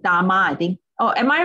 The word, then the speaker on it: Dama: It's called Dama, I think. Oh, am I right, Kiwi? Am I pronouncing? Is it D-A-M-M-A? Yeah, D-A-M-A.